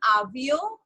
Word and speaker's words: avion: Okay, so today what we are doing, we are just writing the name like the alphabets, Akam, Avio.